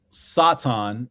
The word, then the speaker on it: Satan: Hercule Satan. And I'mma pronounce I'mma use the Japanese pronunciation, not the western pronunciation.